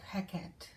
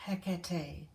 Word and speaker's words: Hekate: I've recently felt the call of Hekate or Hekate, depending on how you want to pronounce her name.